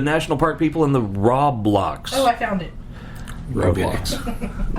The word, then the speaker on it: Roblox: The national park people in the Roblox. Oh, I found it. Roblox. No, it's not roadblocks. This No, is the post. Roblox. That's what I This said.